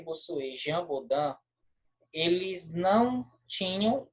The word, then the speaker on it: Bossuet: E aqui é Bossuet. No final, fica como se fosse um R, tá? Bossuet.